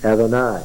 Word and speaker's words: Adonai: They will not say Yahweh, because the divine name is not pronounced. They'll say Adonai, right?